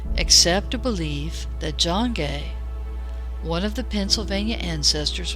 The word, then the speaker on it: Gay: a village in France it was pronounced either ghee in France or guy later in England the guy phonetic